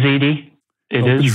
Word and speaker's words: Ziti: that what it is it's spelled z-i-t-i what's what is that open z it is you're right you like the spaghetti yeah yeah it tastes